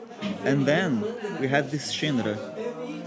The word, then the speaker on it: Xendra: then we had this shindra in Brazilian Portuguese we pronounce it like this some some people say Sandra Sandra zindra and um it was